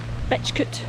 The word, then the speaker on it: Betchcote: So I think the early spelling of Smethcott, Betchcote, Picklescott, they have C-O-T-E on the end, and now they have S-C-O-T-T, but I've always pronounced them like they have C-U-T at the end, cut. So Smethcott, Picklescott, Betchcote. It's always how I've pronounced them, and I've heard, you know, relations pronouncing it, so it's obviously a Shropshire pronunciation.